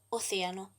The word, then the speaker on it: océano: Por ejemplo, océano. El acento tónico está en la E.